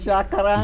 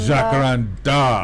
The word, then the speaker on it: jacaranda: word that migrated into Portuguese so the correct pronunciation is jaara jakaranda jakaranda well we don't call our hakara trees in